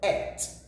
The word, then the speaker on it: ate: past tense of eat some people will call it a no it is not eight we call it at will give us at apart from there is